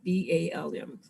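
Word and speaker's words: balm: it a healing bomb b-a-l-m sometimes it sounds like i'm saying healing bomb theo but i'm saying healing bal let me spell it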